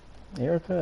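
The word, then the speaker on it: Erika: like traditional german songs the uh erica is how you pronounce it er aka i can probably play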